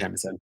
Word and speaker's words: Shamisen: Shamisen. Yeah. Yep. Shamisen.